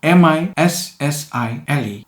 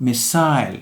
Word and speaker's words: missile: Word number 7 is M-I-S-S-I-L-E. It is pronounced missile in British English, while missile is in American English.